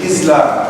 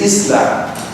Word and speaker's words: Islam: Say Islam. She said, Islam. I said, no. It is Islam.